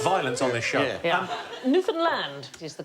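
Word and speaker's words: Newfoundland: is this island called Newland yeah I'm going to have to shoot you now uh no it isn't the correct pronunciation Newland hey hey enough violence on this show um Newan land is the correct pronunciation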